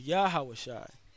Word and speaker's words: Yahawashi: deliverer okay all right so it is yahoo shot that's how you actually pronounce the name of the heavenly father's son all right so let's